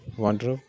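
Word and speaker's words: wardrobe: tannery अगला word है वार्ड्रोब वार्ड्रोब उसमें आर्ट साइलेंट होता है तो वार्ड्रोब कपड़े रखने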